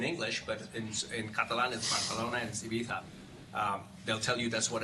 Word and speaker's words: Ibiza: to by the way it's pronounced Ibiza like you'd be like with a lisp there's a story but